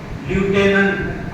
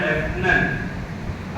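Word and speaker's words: lieutenant: कोणालाही सांगता आलं नाही त्याचं स्पेलिंग आहे एल आय डी यु टी इ एन ए एन टी ल्युटेनंट असा उच्चार नाही त्याचा त्याचा उच्चार आहे लेफ्टनंट असे अनेक शब्द आहेत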